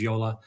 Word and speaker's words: JOOLA: But the correct pronunciation is Yola.